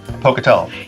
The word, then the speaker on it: Pocatello: beer of the year the spuma in Pocatello Pocatello yay I said it right Pocatello Iowa no